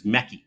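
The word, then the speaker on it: Méqui: first came to Brazil McDonald's here is mechy with a Q and it's something that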